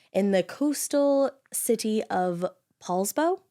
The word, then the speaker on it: Poulsbo: the coastal city of Poulsbo I think is how you say it I love it I